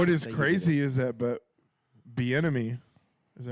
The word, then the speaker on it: Bieniemy: What is Say you did crazy is that, but Bieniemy, is that how you say it? Is it? Did I say The it right? enemy. Yeah. it. Be in it.